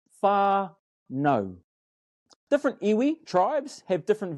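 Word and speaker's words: whānau: if so the word far no is actually pronounced far no different ewi tribes have different variations and we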